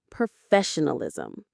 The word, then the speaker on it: professionalism: The stress is on the second syllable. Fe. Professionalism. Say it with me.